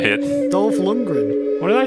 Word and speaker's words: Dolph Lundgren: the podcast dolph it's going to feature top london are you a fan of dolls his name wrong as well what's his name you say it dolph lundgren what did i say london something like that